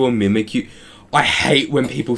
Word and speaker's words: Mimikyu: Do you guys say Mimi Q or Mimikyu? I hate when people say Mimi Q. It's Use your brain for a second. It's mimicking Pikachu. The whole point is that it's mimic you.